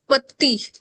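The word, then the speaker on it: petit: We don't read final consonant. Fine. We only read CLFR. So T is silent consonant. पति, अगर ये adjective है, पति का मतलब है स्मॉल या फिर शॉर्ट.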